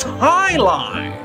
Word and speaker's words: jai-alai: but heck is jai-alai it's pronounced Highline what the heck is